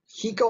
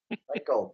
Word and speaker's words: Heiko: And okay, dumb question: is it Hiko or Heiko? Heiko.